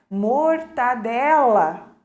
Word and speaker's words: mortadela: lá e falando mendigo assim como mortandela né e o correto é mortadela né então são algumas